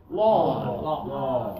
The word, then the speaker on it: law: is also a okay law yeah a lot of students really try to over pronounce the W don't okay a like sock and talk and Holly a a